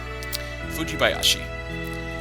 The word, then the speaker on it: Fujibayashi: But it's really not that hard to pronounce. Fujibayashi.